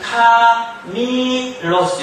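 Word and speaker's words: κάμιλος: 이거는 카멜로스 이렇게 읽어요. 요거는 뭐냐면 카밀로스 이렇게 읽어요. 카밀로스. 좀 닦아야 돼요. 카밀로스. 뭔만 하나 틀려요 지금. 요것만 하나 틀리죠. 요거는 에 발음 나고 요거는 그냥 이 발음 나요.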